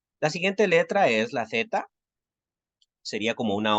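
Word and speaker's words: ζ: Su pronunciación es como la de la Z española, ¿sí? Z, ese sonido como entre D y S.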